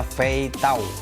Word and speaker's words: 飞刀: Ini dibacanya Fei Tao, teman-teman ya.